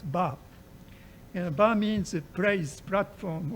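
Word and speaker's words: 場: In Japanese, this character is pronounced as ba.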